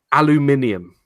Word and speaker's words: aluminium: you say aluminum properly you should have ad properly at the end there aluminium because that's how it's spelt that's a cheeky grin